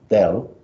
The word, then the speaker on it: del: called a differential operator this thing is pronounced del d-e-l-l not the computer there or but okay